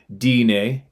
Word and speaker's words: Dene: In our language, Navajo, Dene, pronounced Dine, meaning the people, we call Sasquatch Ye Tso, giants.